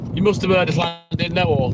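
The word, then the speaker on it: Llandudno: You must have heard of Landid No, or Landodno as the uneducated would pronounce it.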